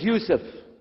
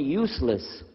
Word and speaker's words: Yusuf: work on it inallah my name is Yousef can you say Yousef me say Yousef you're very good I wish you teach my wife wife she keeps mispronouncing it she calls me useless alhamdulillah now how many